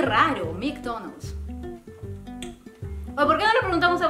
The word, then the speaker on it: McDonald's: suene a m raro McDonald's por no le preguntamos a papá Estás segura que se pronun así McDonald mcdonal Cómo dice papá McDonald's McDonald's Oh es que es que hay que decirlo más rápido McDonald's No es cierto